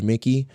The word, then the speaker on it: Mique: So, his last name is spelled M I Q U E. Uh, George Mickey.